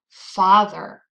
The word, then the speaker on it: father: Can you find the stressed syllable in this word? Father, father. That's right, it's the first syllable, father.